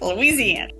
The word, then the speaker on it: Louisiana: Louisiana. Judy Terzadis, who's been on this program before. She is publisher of Georgia's Media Group, the largest local news publishing company in the state of Louisiana.